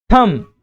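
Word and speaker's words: thumb: थंब डम। तो जो बी है वो साइलेंट होता है।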